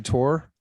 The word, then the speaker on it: Tor: interests then maybe the tor browser is for you kind of sounds like thor with a silent h kind of does it